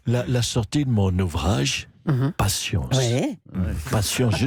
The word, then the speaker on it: patience: Patience. Ouais. Patience. Je dis patience parce qu'il y a un S à la fin. Oui, on ne le prononce pas finalement.